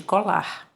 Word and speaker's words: colar: Se você não colocar o R no final, ele não vai ter um som forte no final da sílaba. A sílaba mais forte não vai ser a última. Você vai ler cola, cola. Tá vendo? Cola. Cola é diferente de colar.